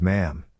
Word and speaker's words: Ma'am: When conversing with Elizabeth, the correct etiquette was to address her initially as Your Majesty and thereafter as Ma'am, pronounced, with a short A as in jam.